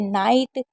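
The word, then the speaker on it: knight: 28 rule है कि के एन अगर कभी भी के एन साथ में होता है तो के को नहीं पढ़ते हैं। जैसे नाइट नी न्यू ई डब्ल्यू को ऊ पढ़ते हैं।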